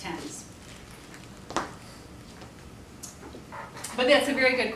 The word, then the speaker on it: Thames: it's really sent and London's Thames River looks like things but it's tense but that's a very